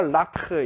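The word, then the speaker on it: לָךְ: 이렇게 액센트를 앞에다가 당겨주고 이걸 갖다가 레카가 아니라 라크 이런 식으로 발음을 해서 한 문장이 끝나는 느낌을 주는 거예요.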